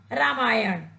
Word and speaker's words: रामायण: अशुद्ध माना जाता है जब हम एक शब्द में नौ के स्थान पर व्यंजन का प्रयोग करेंगे तब इसे शुद्ध माना जाएगा और शुद्ध शब्द होगा रामायण इसी प्रकार श्रेष्ठ बच्चों